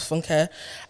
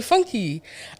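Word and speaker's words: Funke: first name down so my first name is funka and because these white people don't like Lear know how to pronounce people's names they call me funky and because funky and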